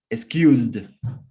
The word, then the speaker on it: excused: or only a D, but the pronunciation is like I only add the D sound to the verb.